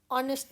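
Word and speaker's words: honest: फिर हम एन लगाते हैं, यहाँ पर एच से वर्ड स्टार्ट हो रहा है लेकिन एच साइलेंट है, जैसे आवर के बाद एन, ऑनेस्ट मैन के पहले भी एन।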